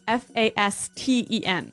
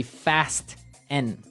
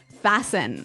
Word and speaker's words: fasten: yeah now the pronunciation here is interesting yes it's spelled f-a-s-t-e-n right so it would be Fast N no no right fasten fasten the tea kind of becomes silent so